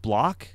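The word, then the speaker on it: Bloch: by Robert is it block I pronounce it block but yeah Robert block and it's good I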